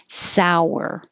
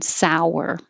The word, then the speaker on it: sour: makes a w sour so it doesn't look like there's a w but you have to make one sour if you don't round your lips it's possible it could sound like sore with s-o-r-e meaning something is hurt or soar meaning to fly they both sound exactly the same but they don't sound like sour you can say most